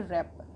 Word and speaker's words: wrapper: WRAPPER, इसमें भी हमारा W लेटर के बाद R लेटर है, और जब W लेटर के बाद R लेटर होता है तो हमारा W साइलेंट हो जाता है। तो इसको हम पढ़ेंगे रैपर।